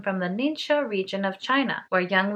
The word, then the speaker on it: NingXia: that i'm pronouncing right i googled the pronunciation ninja ninja first let me give